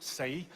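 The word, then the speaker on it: 四: In the Chinese culture, pronounced sei, which literally means die.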